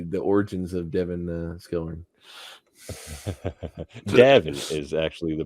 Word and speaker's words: Skelhorn: learn about the the origins of Devin uh Skillman is actually the pronunciation there oh thank you that's good too